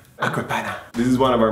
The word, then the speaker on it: Acqua Panna: But we pronounce it San Pellegrino. San Pellegrino. Pellegrino. Another fancy water. Acqua Panna. Acqua Panna. Acqua Panna.